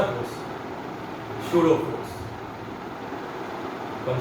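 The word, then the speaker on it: pseudo: आप बोलेंगे कि सर आप तो शूडो फोर्स बोल रहे हैं, आपने तो पी से स्टार्ट किया है, तो पशूडो फोर्स नहीं है, इट इज अ P silent, P silent है, इट इज शूडो फोर्स। तो पी साइलेंट लिखना पी है, लेकिन बोलना में पी नहीं है। पशूडो ने मत बोलना, don't say पशूडो, इट्स शूडो force.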